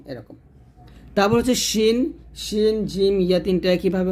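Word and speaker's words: س: জের শেদ সদ এবং সিনটা একটু খেয়াল করুন সদ হবে মোটা সিন হবে পাতলা জিব্বাটা নিচে দাঁতে লাগবে তবে সদর বলতে হবে মোটা করে সদর আর এটা হবে সিন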